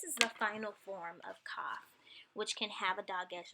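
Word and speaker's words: כף: Kaf. Kaf occurs in multiple forms. It could occur with a dot, or with the dagesh, and it's a strong K.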